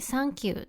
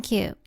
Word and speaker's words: サンキュー: Here, the "tha" part becomes "サ." "Sank you," or rather "あなたを沈めた," is not what we mean when we say "サンキュー" in Japan. So, don't be surprised when you hear "サンキュー" here!